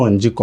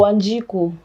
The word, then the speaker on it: Wanjiku: Ah mi sifanyangi hivo but wananijua sijui unavyosema wanjiko ama wanjiko? Wanjiku Wanjiko like na Kikuyu inafaa kusema Wanjiku.